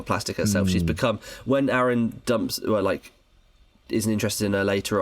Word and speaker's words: Aaron: It is Aaron because it rhymes with Karen, and I think that in the stage musical they do like a joke about that.